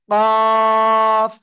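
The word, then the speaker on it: قاف: করেন এটার নাম হলো কফ কি কফ চার আলিফ টান জিহ্বার গোড়া তার বরাবর উপরে তালুর সাথে লাগিয়ে জিহ্বার গোড়া তার বরাবর উপরে তালুর সাথে লাগিয়ে কফ এরকম মোটা আওয়াজে কাফ জিহ্বার গোড়া তার বরাবর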